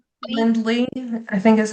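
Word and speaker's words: Calendly: Kalen Kendly I think is how you pronounce it.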